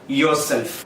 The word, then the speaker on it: yourself: yourself. അടുത്ത വാക്ക് നമ്മൾ എല്ലാവരും തെറ്റായിട്ട് ഉപയോഗിക്കുന്ന വാക്കാണ് സ്പോഞ്ച്. സ്പോഞ്ച് എന്ന് പറയുന്ന വാക്കിന്റെ കറക്റ്റ് ആയിട്ടുള്ള ഉച്ചാരണം സ്പോഞ്ച് എന്നല്ല, മറിച്ച് സ്പഞ്ച് എന്നാണ്.